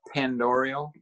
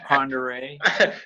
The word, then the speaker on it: Ponderay: So it looks like Pandorial, but it's Ponderay. That's how I was pronouncing it. I was pronouncing it Pinderile.